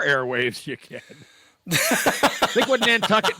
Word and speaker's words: Nantucket: you can think would n tuck it might rhyme with bucket that's yes uh well it looks like John John balushi was uh his grave was moved to Nantucket to protect it from